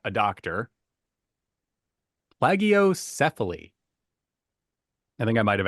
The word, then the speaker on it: plagiocephaly: Plagiocephaly. I think I might have actually said it right, but we'll just pretend I did and give me Say it with kudos. conviction and go. Yes, exactly. Plagiocephaly.